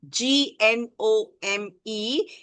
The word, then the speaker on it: gnome: reminded him of a gnome. G N O M E. The G is silent over there.